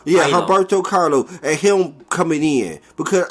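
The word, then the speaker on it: Humberto Carrillo: It was the combination of AJ Bowen through him and her how do you pronounce that boy's name again? Humberto Carlo. Yeah, Humberto Carlo, and him coming in, because I really think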